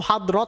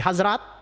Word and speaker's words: Hazrat: Hazrat tuh Hadrot, tapi karena ya ejaan Pakistan jadi Hazrat.